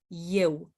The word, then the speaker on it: eu: will see that are written with an E at the beginning, but when we pronounce them, we can hear a Y sound. Eu, el, ea, ei, ele.